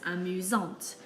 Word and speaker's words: amusante: But when we're describing a girl, we add an E, and now we have to pronounce the T, giving us amusante.